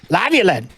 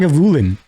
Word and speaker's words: Lagavulin: Lavulin. It's not how you say it, He's man.